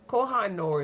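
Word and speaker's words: Koh-i-Noor: So, okay, for the wood now, I got some kahanor. Kahanor. Koha. Kohhanor is really how you say it.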